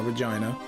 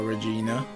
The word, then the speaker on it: Regina: Oh yeah, we're gonna say her name properly now, Regina. Or Regina, if people want. But I've always said Regina, I'm always gonna say it. Because that's the British way.